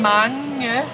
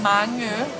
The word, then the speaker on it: mange: Okay, listen how it's M-A-N-G-E. Marine. Mange. Marine. It sounds like French. It's not, trust me. It sounds like Mange.